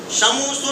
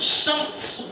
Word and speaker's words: شمس: شموسو نہیں، شمس، شمس، ٹھیک ہے.